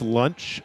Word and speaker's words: Lunch: oh shut the f--- launch it's pronounced lunch Michael that's lunch uh-huh Launchpad McQuack kind